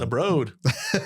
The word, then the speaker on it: Broad: The Broad. That blew my mind. And I was pissed when I found out I was saying it wrong my whole life. The Broad. Let's go to the Broad.